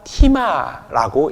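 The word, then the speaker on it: τίμα: 하지만 오늘 말씀에 등장하는 공경하라 라는 말은요, 헬라어 티마라고 읽는데, 이는 원형 티마오에서부터 시작된 표현입니다.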